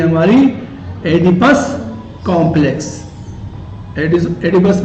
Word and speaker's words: Oedipus: नाम है एडिपस complex, OEDIPUS, ओ silent, एडिपस complex.